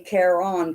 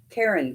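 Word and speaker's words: Caron: let me tell you I say K on cakes okay which I'm sure that's wrong wrong um because he pronounces it Karen cakes on the Karen cakes of yarn I pronounce it Kon cakes um but you know what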